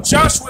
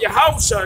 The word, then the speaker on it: Yahushua: Now we know Joshua isn't the way to pronounce it. We know that Yahushua is the true way to pronounce it.